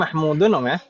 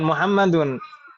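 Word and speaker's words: مَحْمُودٌ: Tajiri Mahmud Duri mudun ini bacanya mahmudun bukan Muhammadun Mahmudin Bedanya apa tulisan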